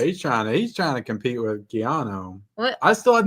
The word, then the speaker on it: Keanu: Oh, I just say Kiana. Keanu. There's no on it? You're forgetting the O. Keanu. There's a U at the end, but it's...